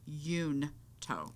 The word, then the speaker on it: Junto: Literally says that Benjamin Franklin pronounced it Yunto.